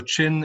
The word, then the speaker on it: Chin: It's pronounced Chin, T-C-H-I-N.